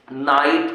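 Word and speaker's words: knight: लिखा है शब्द की शुरुआत में जब यन के पहले के दिख जाए, यन के पहले का दिख जाए, के। ठीक है ना? हाँ, तो के का उच्चारण नहीं किया था, के साइलेंट रहता है।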